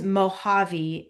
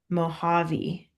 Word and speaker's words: Mojave: And you know that word is Mojave. It's like a H sound, even though it's a J. That's Yeah. because it is a Native American word, Mojave.